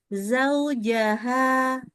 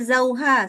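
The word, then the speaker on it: زَوْجَهَا: Zaujaha. Zaujaha. Za. Wa Bukan ja. khalaqa min wa khalaqa minha zauha wa basam Stop lagi. min Stop lagi. ya, Terbacanya zauha. Salah. Zaujaha.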